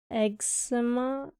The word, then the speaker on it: eczema: No one says the C. Eczema. That's weird. It's too much extra work. X comes out as egg sounding.